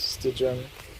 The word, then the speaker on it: Stygian: What's pronounced? Stygian concept. Stygian.